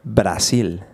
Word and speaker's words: Brasil: Colombia, Venezuela, Brasil. Ooh. Argentina. Is that how you say it, Brasil? Not bada, but Brasil. Brasil.